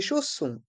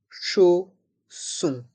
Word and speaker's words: chausson: Chaussures, chausson. Et dans chausson, les lettres O et N ont le son on.